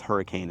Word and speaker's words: Hurricane: So Leeds, United Kingdom, they're going off of that accent of hurricane, but it's hurricane. It's spelled like hurricane, and that's because it can get windy here.